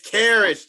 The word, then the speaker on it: Caris: It's Karras, Trey. Karras? Okay, Karras. Okay. Karras LeVert. So how you spell it?